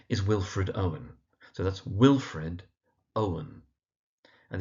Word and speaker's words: Wilfred Owen: So that's Wilfred Owen. And the emphasis in Wilfred is on the first syllable and in Owen again it's on the first syllable.